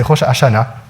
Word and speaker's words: Rosh Hashanah: Il n'y a peut-être pas le Rosh Hashanah, il y a un petit peu le R, mais c'est Rosh Hashanah.